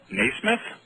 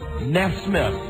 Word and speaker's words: Nesmith: You both had it wrong. You have to pronounce the names correctly. Michael Nesmith. Nesmith. There you go. It's an S and a myth.